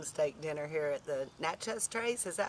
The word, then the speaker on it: Natchez Trace: We're enjoying an awesome steak dinner here at the Natchez Trace.